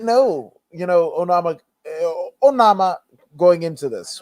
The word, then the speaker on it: Onama: actually won the match oh nama that is the actual pronunciation oh nama that is the african pronunciation pronunciation onama is the american pronunciation the boy has got